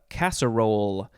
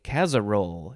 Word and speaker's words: casserole: that next we have casserole uh you could also say casarole if you wanna get that z sound in there casserole uh noun from